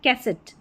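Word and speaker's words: cassette: तो देखिए ये हो गया कैसेट, कैसेट, एट, एट करके उच्चारण।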